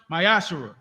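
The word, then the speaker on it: מעשר: Malachi 3 38 verse1 means 10 in Hebrew and pronounced myash 10% of very penny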